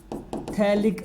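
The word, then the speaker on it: phthalic: 1 और 2 पे एसिड है, इसको बोलते हैं थैलिक एसिड। देखो P लिख रहा हूँ बार बार में, ध्यान रखना P साइलेंट है।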